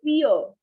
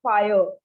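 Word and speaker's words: vier: is written i e so it's e so fear not fire it's fear next comes is five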